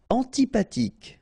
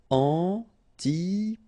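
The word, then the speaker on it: antipathique: sound is shh mush antipatic. So remember this ash doesn't exist phonetically. So antipatic. Okay. Final uh not pronounced antipatic malu ash doesn't exist.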